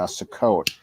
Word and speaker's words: Sukkot: I invited Aunt Nancy onto the show to talk about Sukkot. Thank you you pronounced that right, and thank you for distracting